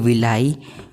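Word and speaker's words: villi: होती है उसकी स्पेलिंग विलाई भी कह सकते हैं विली भी कह सकते हैं सीबीएससी वाले विली कहते हैं पर हम विलाई कहेंगे ठीक है हमारा अपना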